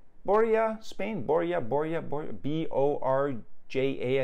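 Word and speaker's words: Borja: are going to borea borea spain borea borea b-o-r-j-a i think the j is silent in the spanish language boy yeah spain uh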